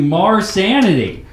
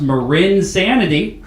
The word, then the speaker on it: marINSANITY: for coming out to Mars sanity what's up I'm being told that is pronounced mur insanity my bad I am